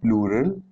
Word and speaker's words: plural: Just remember it's pronounced plural, just like the word rural.